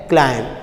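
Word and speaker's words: climb: वो क्या होता है, क्लाइंब। तो बी की आवाज़ आती है, जबकि एम की आवाज़ हमारे पास वाज़े होती है, तो बी की आवाज़ मध्यम हो, तो क्लाइंब, हम क्या कह रहे हैं, क्लाइंब।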